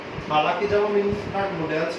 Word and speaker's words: modal: और एक चीज और, बार बार बीच में मैं भी मॉडल्स बोल रहा हूँ, ठीक है, क्योंकि मैं इसको मॉडल से बोलते आया हूँ, बट करेक्ट प्रोनाउंसिएशन इसकी मॉडल है।